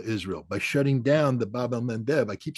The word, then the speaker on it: Bab el-Mandeb: And the Houthi have shown the Achilles heel of Israel by shutting down the Bab el-Mandeb. I keep saying that because I finally pronounce it right.